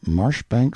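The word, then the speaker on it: Marjoribanks: and style being the honorable Kirk Cudbright, Lanover Marjgery Banks, Sellers, Vic Count Berkeley of Chalundy Castle, Warwickshshire. Pronounced Cubri Flanover Marshbanks sellers Viccount Barkley of Chumley Castle, Warkshire.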